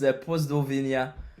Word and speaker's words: Pozdrowienia: Yeah, it's in Polish. It's Pozdrowienia.